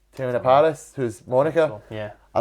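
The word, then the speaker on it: Teyonah Parris: I quite liked I think it's he pronounced it Tiona Paris, who's Monica.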